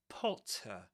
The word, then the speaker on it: Potter: Harry Potter with that short O sound in O P just like for example stop P and it ends with with awah PT as in the the car. For example, potter. Potter.